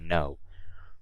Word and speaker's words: know: and finally no okay this is how I pronounce no you guys I don't pronounce the K I don't sake no I say no okay so I think